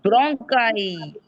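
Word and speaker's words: bronchi: It's spelling is like ब्रोंचा, लेकिन उसकी sound ब्रोंकाई आएगी।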